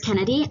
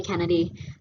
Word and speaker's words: Cennidie: all as i said my name is kennedy um however it is not spelt the way most people think it is um it's spelled with ac um i've heard every